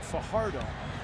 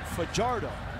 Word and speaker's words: Fajardo: gating now many would pronounce his last name Fajardo he pronounces it for jarred oh and he said he does that because as